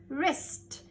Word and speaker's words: wrist: any word okay ready wr says wrist now this is my wrist this part is my wrist to wrist w is silent i only say the r sound ch says but now